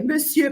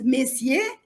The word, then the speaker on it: monsieur: voyelles françaises correctement et Monsieur par exemple il prononce mes cier alors il n'y a pas le E monsieur il prononce pas et